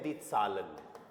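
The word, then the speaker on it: Zählen: क्या देखो साउंड क्या आ जाएगा इसका जेड का साउंड ए का आ एच साइलेंट रहेगा एल का ल इ एन का अन क्या साउंड हो गया ये दी सालन काउंटिंग पहले वाले टॉपिक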